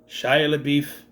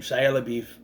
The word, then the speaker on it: Shia LaBeouf: I would also be remiss if I didn't mention Shia LaBeouf in this movie. And yes, that's how I say his name, Shia LaBeouf, in this movie.